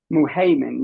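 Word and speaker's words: Al-Muhaymin: Muhaymin, yes, ma'am.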